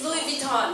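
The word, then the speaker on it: Louis Vuitton: What's the French pronunciation of the brand？ Of the world-renowned brand, it's Louis Vuitton.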